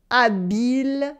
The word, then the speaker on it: habile: It is la fille habile s'habille. Ooh, that was difficult. The skillful girl is getting dressed. Habile is skillful. It only has one L and it rhymes with ville. Ville habile, same sound.